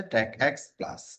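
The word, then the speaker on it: TACACS+: করে আর কি আর ট্যাক প্লাস হচ্ছে ট্যাক এক্স প্লাস এইভাবে প্রনাউন্স তাহলে এখন আমাদের যদি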